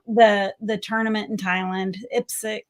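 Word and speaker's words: IPSC: the tournament in Thailand ipsic is that how you pronounce it yeah so I am super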